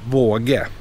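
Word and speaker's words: Vaage: You see the double A? That creates another sound, so it's pronounced våge.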